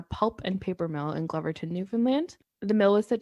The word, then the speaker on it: Glovertown: So my last story is the story of I think it's pronounced Gloverton. It's like it's spelled Glovertown, but I think Gloverton.